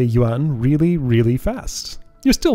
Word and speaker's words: yuan: one more the Chinese yuan is the currency here though that word is one syllable I hear people go you an or you on and well wow that's